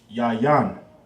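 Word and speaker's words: יין: That'll be pronounced yayan.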